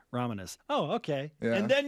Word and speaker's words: Ramanis: Ramanis.